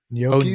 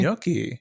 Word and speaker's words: gnocchi: Oh, Gnocchi. gnocchi. I love some gnocchi. You say it weird, man. I don't like it. Gnocchi. You put too many syllables in there. What are you talking about? It's gnocchi.